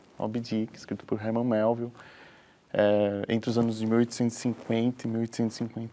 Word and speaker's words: Melville: Primeiro, eu falei Melville, mas a pronúncia nos Estados Unidos correta? É Melville.